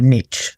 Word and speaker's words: niche: And I always say this to people in general, even new agents, is you've got to pick a niche or a niche, the Americans say.